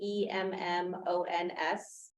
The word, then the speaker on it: Emmons: my name is Emmons and then e-m-m-o-n-s and I am Tara Timber's real estate agent and Tara Timber is our applicant and that was Emmons am I pronouncing it correctly yeah e-m-m-o-n-s thank you Miss